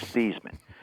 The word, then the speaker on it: Theismann: I'll explain it later just tell me how do you pronounce our last name he said thean I said I'll call you later hung it up I said look my last name's theeman I know I just